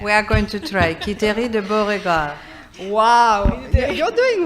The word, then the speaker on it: Quiterie: Quiterie de Beauregard. Wow, you're doing well, you're doing well. No, but the QU for English-speaking people is just QI, so it makes sense.